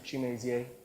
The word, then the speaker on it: Chimezie: Chimezie. Larry, you just pronounced my name correctly.